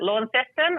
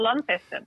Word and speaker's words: Launceston: one name um but there's often two pronunciations um that people are at war over so uh i think the one that comes to mind is that launceston or launceston uh and of course